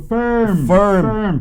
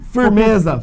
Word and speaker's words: firm: E firm é como se fosse assim, Fernando do interior, firm. Firmeza. Exato, porque tem muita gente que fala assim, firme, e não é firme, ou então farm, que é fazenda.